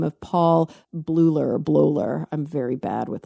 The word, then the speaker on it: Bleuler: a Swiss psychiatrist by the name of Paul Bleuler. I'm very bad with like German pronunciation. I have it right here. Bleuler.